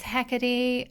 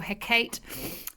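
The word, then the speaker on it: Hecate: got we have got the goddess hackety uh first or her kate some people pronounce it gather wisdom from deep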